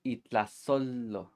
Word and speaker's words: itlazolo: Now, if the trash belongs to a plant, it's called itlazolo. Itlazolo. Don't get mistaken, this looks like a lo, but it's actually a yo in disguise.